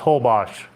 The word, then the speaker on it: Holbox: Well, I guess they do say is the L silent in Holbox or no? No, yeah, so it's Holbox. Yeah, just the X is like shh.